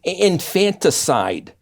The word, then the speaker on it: infanticide: of now is called infanticide yeah it looks like infant side like homicide yeah but that is